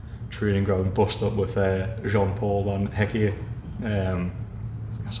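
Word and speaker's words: Jan Paul van Hecke: had that reported training ground bust up with Jean-Paul Van Hecke.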